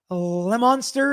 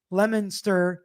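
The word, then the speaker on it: Leominster: Lemon Monster is Lemon Monster. Lemonster.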